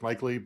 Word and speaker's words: Maichele: I don't put my last name because it's pronounced Maichele, but it's not spelled that way, so nobody can find me.